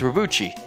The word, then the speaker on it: Robotry: It's Robotry.